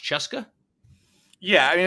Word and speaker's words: CSKA: So the team he plays for, CSKA, which I was told is pronounced Cheska. Yeah, I mean it's basically the old Red Army team. Okay, so it's CSKA, it's Cheska Moscow.